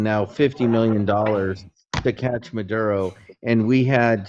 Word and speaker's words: Maduro: Biden is the one who put the the bounty on uh Madno. Madno. Maduro. Um, you can't even pronounce it right.